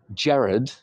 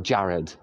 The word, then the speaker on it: Gerard: Canada or America, and I wanted them to pronounce Gerard the way my mum says it, I would probably spell it to them J-E-R-R-A-D, Gerard, or Jared. Because I know that Canadians and Americans say Gerard.